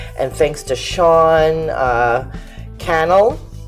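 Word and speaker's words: Cannell: thanks to sean uh kennel rhymes with channel uh he runs like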